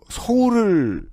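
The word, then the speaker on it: Saul: 한국에서는 얼마나 지워졌나 men 지금도이 사울 알린스키 어 그 원어민들의 발음으로 들으면 어 서울을 그 미국인들이 읽을 때처럼 들려요 울 서울 알린스키 맞아요 예이 알린스키 한국에서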